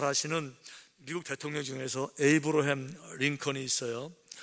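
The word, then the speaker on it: Abraham: 아시는 미국 대통령 중에서 에이브러햄 링컨이 있어요 아 에이브러햄 링컨 그러니까 에이브러햄 아 에이브러햄 은 미국식 발음 이에요 사실은 앞으로 함 이에요 그래서 글자 그들을 금은 요 아브라함 링컨 이에요 그리고 링컨은 이름이 아니에요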